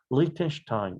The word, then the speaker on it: Lichtenstein: 자, 이것도 미국 사람이라면 아마 스테인, 스테인 이런 식으로 읽을 텐데요. 혹시 아마 유럽 사람일 수도 있을 것 같아서 선생님이 그대로 읽었습니다. 원래 이 단어는 독일어 계통 단어이기 때문에 Liechtenstein 이렇게 발음이 독일어로는 됩니다.